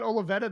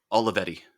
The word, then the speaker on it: Olivetti: That with that Olivetta that you have, is that the right way to pronounce it? The Uh, Olivetta, Olivetti.